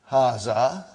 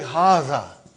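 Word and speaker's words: هذا: Haza. See, it is pronounced like haza. But this alif is not written.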